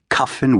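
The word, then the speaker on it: Kyffin: Cuffin Williams, the painter, rhymes with puffin.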